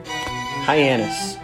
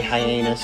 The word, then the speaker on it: Hyannis: number five we've got hyannis this one looks like it's pretty easy but you'd be surprised how many people say hyenas or giannios or something stupid like that alrighty at number four